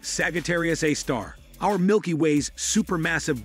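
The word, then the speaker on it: Sagittarius A*: black hole Discovery called Sagitarius a asterisk pronounced Sagittarius A star our Milky Ways super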